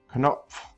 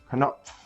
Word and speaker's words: Knopf: So in English, the K is silent when you have these two letter combinations. There is no silent K sound in German. So, Knie, Knopf. Notice that I instantly go from the K sound to the N sound.